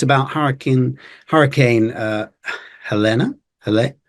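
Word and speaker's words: Helene: after we recorded this video so the correct pronunciation for this name is Helen Helen or that's what I've heard on American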